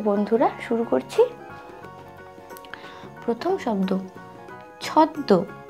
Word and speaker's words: ছদ্ম: প্রথম শব্দ ছদ্দ, ছ দয় ম, ছদ্দ। উচ্চারণটা কিন্তু আমরা ময়ের উচ্চারণটা ঠিক একটা বোঝা যায় না, ছ দয় ম, ছদ্ম হয় না, উচ্চারণটা করতে হবে ছদ্দ, ছ দয় ম, ছদ্দ।